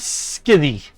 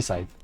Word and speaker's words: scythe: A bronze skithy scythe. I know how to say scythe. I always pronounce that name funny because it's spelled funny.